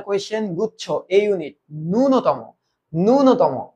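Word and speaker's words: ন্যূনতম: গুচ্ছ এই ইউনিট ননতম ননতম এটার উচ্চারণ ননতম ননতম আচ্ছা আমরা জানি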